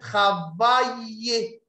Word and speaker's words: travailler: Mais là, quand on a le AI and double L between two vowel, and we have double L, so the L is not pronounced also its sign. So we said travailler.